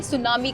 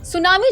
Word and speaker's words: tsunami: नहीं दिया गया है सुनामी जापानी भाषा के दो शब्दों तो उस जानी बंदरगाह और नामी यानि रहस्य मिलकर बना है अंग्रेजी में चुनाव में लिखे जाने पर इसका आईटी लेटर साइलेंट रहता है कभी-कभी लोगों द्वारा सुनामी